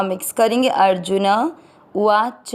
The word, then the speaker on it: उवाच: अ जू के ऊपर आधार अर, जो न में अ मिक्स करेंगे अर्जुन, उवाच में अ मिक्स करेंगे उवाच।